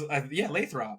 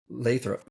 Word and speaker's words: Lathrop: It's Lathrop, right? Lathrop. Yeah, it's Lathrop. It's Lathrop.